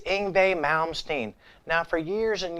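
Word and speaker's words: Yngwie: It's Ingbe Malmstein. Now, for years and years, I couldn't pronounce his name. I thought his name was Yangwe.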